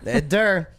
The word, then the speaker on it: Ed Durr: That's how you say his name, Ed Durr.